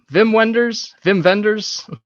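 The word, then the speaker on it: Wim Wenders: as you know, Vim vendors.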